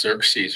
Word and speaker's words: Xerxes: His name was spelled Xerxes. And Mr. Strauss pronounced it Xerx. Xerx. It was pronounced Xerxes or something.